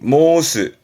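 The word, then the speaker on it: 申す: 이게 발음이 모스, 모스.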